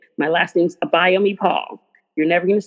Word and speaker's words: Abayomi-Paul: My whole name is Abayomi-Paul, but it's usually easiest to find me if you write in Writes to everything.